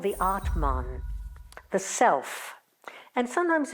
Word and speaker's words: Atman: and then the Soul the Atman with a short a is identified with something